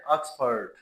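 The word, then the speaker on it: Oxford: होता है ऑक्सफर्ड ऑक्सफर्ड एक तो शुरू में आ साउंड है इसकी देन इसमें एंड पर जो है वो जो आर साउंड है उसको हम साइलेंट कर देते हैं यह अक्स फर्ड अक्स फर्ड फर्ड नॉट फर्ड आर को साइलेंट करेंगे अफर्ड एडवांस नॉट एडवांसड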